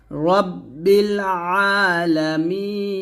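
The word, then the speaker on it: رب العالمين: না হামজার মত উচ্চারণ করি তো হামজার মত উচ্চারণ করলে হবে একটু চাপ দিতে হবে রাব্বিল আলামিন এরকম ভাবে আবার আলহামদুলিল্লাহি রাব্বিল আলামিন তো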